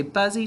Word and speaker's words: busy: what's this word good busy right we say buzzy to spell it but we say busy when we're talking all right so busy is